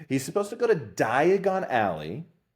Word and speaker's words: Diagon Alley: In the movies, he's supposed to go to Diagon Alley and he pronounces diagonally and he ends up in Borggan and Burks.